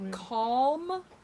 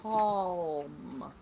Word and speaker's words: calm: And I will never say that word fast again and without emphasis on the L. I mean, we don't even pronounce the L. We pronounce an R. Yeah. Well, I'm going to be calm, calm, butt bead.